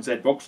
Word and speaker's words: ZBOX: And this one, the Zedbox, and it is called a Zedbox cuz I actually asked their PR company if it's pronounced correctly.